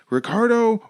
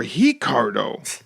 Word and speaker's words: Ricardo: We then get walkouts, Ricardo or Ricardo, as Quadros lets us know. He is Ricardo Arona, and it's actually spelled Ricardo, but the Brazilians pronounce that R with an H sound.